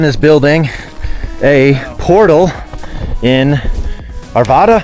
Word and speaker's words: Arvada: building a portal in Arvada arveda I always say it wrong I think it's Arvada but arv anyone's from the